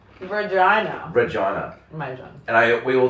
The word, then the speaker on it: Regina: It does sound a lot like vagina and spelled like vagina but with an R E. Regina. Regina. And I we all thought it was Regina.